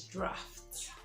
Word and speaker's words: draught: word dr aggh see this word is draught yes but I shocked you dress and not drought now there is the dr o u GH c which is the drought but dr AG g HT is draft and draft simply means